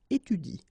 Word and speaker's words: étudie: So in that case, if you want to pronounce it correctly, you should pronounce it like il étudie. Okay, so the last thing that you will pronounce will be the vowel I here.